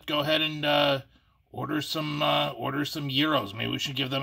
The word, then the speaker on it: gyro: I was thinking about Freshley's Gyros in Willoughby. What's a... Oh, you're talking about that gyro place on Euclid Avenue? Yeah, it's pronounced Gyro, Joe. No. It's spelled G-Y-R-O. It's called Gyro.